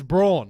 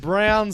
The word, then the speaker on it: Braun: yeah brown brown sorry even though it's spelled wrong and Jeff Van Gundy always guys it's Brawn yeah but Brown says it's brown so we've got Bruce